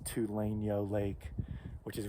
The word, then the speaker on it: Tulainyo: pronouncing it wrong before tuliano i think it's tulane yo lake which is right